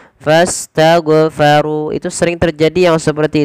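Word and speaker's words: فاستغفروا: Padahal huruf ghain bukan huruf mantul. Tidak boleh mantul. Maka bagaimana cara membacanya? Sesuaikan dari makhraj huruf ghain. Makhraj jadi mana? Pangkal. Bukan pangkal ya. Dia adnal halqi, yaitu tenggorokan paling atas yang dekat dengan pangkal lidah kita. Maka fastaghfaru dan tebalkan huruf ru karena dia ra tafkhim.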